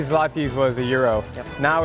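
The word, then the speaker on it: złoty: This is Polish zloty.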